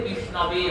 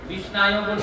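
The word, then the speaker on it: विष्णवे: কিন্তু বিষ্ণুর ক্ষেত্রটা ব্যতিক্রম, সেখানে বিষ্ণুর ক্ষেত্রে বিষ্ণবে হয়। বিষ্ণায় শব্দ যদি উচ্চারণ করা হয় মন্ত্রে, ওটা ভুল। বিষ্ণায় নমঃ বলে কোনো শব্দ হয় না, বিষ্ণবে নমঃ।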